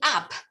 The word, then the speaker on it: app: You mean app? It's an app, yes.